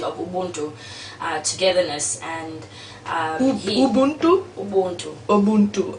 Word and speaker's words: Ubuntu: Ubuntu. Ubuntu. Okay, I'll try to say it right. Like the software system, like my name.